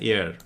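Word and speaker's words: heir: আচ্ছা 227 আসো the king left N এয়ার। আর্টিকেলের সহজ ব্যাপার আমরা উচ্চারণটা কোথায় থেকে করছি বলতো? হ্যাঁ আমরা এই এখান থেকে উচ্চারণ করছি। এইচ এর উচ্চারণ যখন সাইলেন্ট হয় ভাল থেকে হয় তখন আমরা এন ব্যবহার করি।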